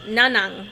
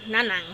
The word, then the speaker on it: Nanang: And that may be a challenge to get to, How do you spell that? Nanang? N-A-N-A-N. N-A-N... In there. N-A-N-G. N-A-N-G. Oh. Nang. Nanang. Nanang.